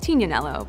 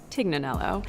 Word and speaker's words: Tignanello: The name The Tig comes from a wine called Tignanello, but oftentimes it's mispronounced Tignanello.